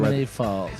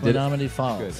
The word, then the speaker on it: Menominee Falls: Did I say it right? Menominee Falls. Yes, Menominee Falls. Good. I did it right.